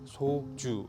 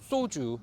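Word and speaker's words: 소주: It is supposed to be soju, but I have had a PD walk up to me and say, listen, we know that it's spelled this way, that's the official way to pronounce it, but a lot of people say soju, so it's better to say it with a sangsiot, soju, because it's easier on the ears.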